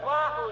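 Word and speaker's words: Oahu: lying on the sand at oo that's pronounced Wahoo de you said it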